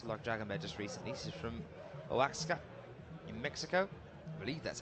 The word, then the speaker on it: Oaxaca: She's from Oaxaca in Mexico. I believe that's how you say it. It's a crazy spelt place where she's from. O-A-X-A-C-A.